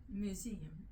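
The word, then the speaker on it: muezzin: Minarets dotted the skyline, and to her ears came the unwanted cry of the museum. Spell it.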